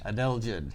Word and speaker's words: adelgid: Think of the singer Adele. Adelgid. Yes.